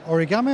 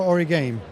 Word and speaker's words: Origame: Well, firstly, did you pronounce it origami or origame? That's kind of a game in itself. I mean, there's at least three different pronunciations. It's up to you. Which one did you prefer, though? I like the word game because it's original games, basically.